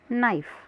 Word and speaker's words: knife: जैसे KNIFE में के साइलेंट है और इसका उच्चारण किया जाता है नाइफ।